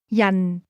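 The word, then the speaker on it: 人: Yan. Yan. This word is pronounced with a falling tone.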